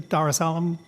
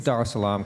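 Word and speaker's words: Darussalam: The Darus Alam Darus Alarm class. That's what they're based on. I'm mispronouncing. That's correct. It's the Doris Alarm class.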